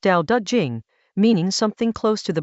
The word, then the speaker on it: Dao De Jing: Chapter 44 of the Dao De Jing — pronounced "dow duh jing," meaning something close to "The Book of the Way and Its Power" — asks three questions in a row.